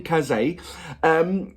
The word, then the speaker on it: Kaze: Kaze is pronounced like Kaze.